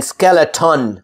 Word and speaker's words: skeleton: So when you see that T-O-N or D-O-N, if it's a weak syllable, not a strong syllable, a weak syllable, that means we don't put stress on that syllable. Then you're able to omit, delete that vowel in between and just say the T sound and the N sound, like beaten, beaten, or